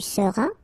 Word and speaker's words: seras: Alright, then tu seras, final S not pronounced, tu seras, il sera, elle sera,